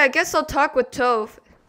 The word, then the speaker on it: Tove: Okay, I guess I'll talk with Tove. Her name rhymes with Dove.